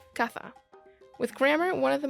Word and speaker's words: caza: house, in some regions it will be said with a S sound to sound like casa, while in others it may have a TH sound to sound like caza.